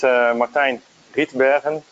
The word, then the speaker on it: Martijn Rietbergen: So my name is Martijn Rietbergen. So this is the way you pronounce it in Dutch.